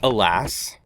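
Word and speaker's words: Hélas: It's Alas, but spelled significantly differently. H E L A S.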